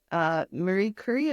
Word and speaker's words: Marie Curie: Like, I didn't know who Marie Curie, I don't know if I'm saying her name right.